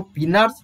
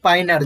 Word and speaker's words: Pinard: जो हम क्या मैनुअली जो करते हैं उसको पिनार्स फिटोस्कोप बोला जाता है। पिनार और पाइनार, जो जैसा प्रोनाउंसिएशन आप लोग कर रहे हैं, पाइनार, PINARD बोलते हैं, क्या बोलते हैं डियर, PINARD बोलते हैं, पाइनार और पिनार फिटोस्कोप बोला जाता